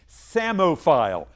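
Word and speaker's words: psammophile: year's National Spelling be samile PS m m o p h i l e the p is silent describes creatures that love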